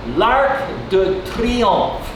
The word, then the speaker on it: L'Arc de Triomphe: L'Arc de Triomphe. And notice here on this R, I rolled my tongue a little bit.